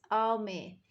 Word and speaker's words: ami: say friend in french the word is ami my mom says you say it like this oh me hello french everything sounds